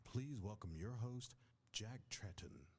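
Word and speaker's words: Tretton: welcome your host Jack tratton oh my God Jack Trenton that's the first person I've heard say his name like properly is Trenton the quality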